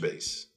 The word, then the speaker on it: base: Case, base, house.